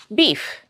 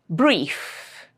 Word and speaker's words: brief: I pronounce it correctly and when did I pronounce it incorrectly. You should be able to discriminate that sound. Beef, brief.